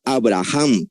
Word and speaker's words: Avraham: no se llamará abraham ya que se escribe con v abraham que significa padre exaltado sino tu nombre será avraham que significa padre de multitudes porque yo te he